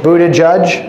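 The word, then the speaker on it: Buttigieg: budding gig I'm like I read his name Buda judge who doesn't judge our error any of the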